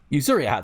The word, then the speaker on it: Yuzuriha: among other things, you might know her as Yuzuriha. How do you pronounce it? Yuzuriha, thank you, from Dr.